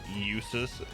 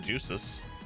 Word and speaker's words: Eustace: I call Eustace Eustace because that's how you say his name. Eustace. Never said Juices.